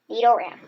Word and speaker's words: Nidoran: How to say it? Ran. Nidoran.